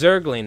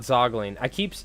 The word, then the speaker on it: Zergling: Oh, it's Zergling. It's not Zogling. I'm supposed to be saying Zergling, aren't I? It's actually pronounced Zergling, but I've been saying Zogling.